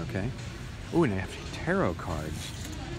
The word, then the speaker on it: tarot: Ooh, and they have tarot cards. The T at the end of the word tarot is silent, so don't say tarot cards, because you sound like a goober.